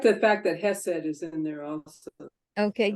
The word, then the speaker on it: Hesed: anybody who speaks Hebrew, but the first consonant in this word is pronounced in your throat, and I cannot do it.